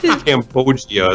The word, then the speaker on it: cambogia: you buy it okay cambogia is how you say this loggia okay but I think